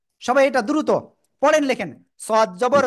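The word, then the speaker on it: صاد: সদ, সদ, একটু মোটা আওয়াজ হবে, সদ, সদ, চার লিপ টান। জিহ্বার আগে সামনে নিচে দুই দাঁতের পেট ও আগের সাথে লাগিয়ে মোটা আওয়াজে আমরা উচ্চারণ করব।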